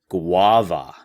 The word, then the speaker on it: guava: Now we have guava. Guava. Now this is a U, but it's making a W sound.